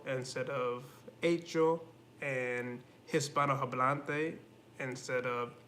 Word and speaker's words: hecho: also with ages two i keep forgetting that the h is silent in spanish so i keep saying things like hecho instead of acho and hispano hablante instead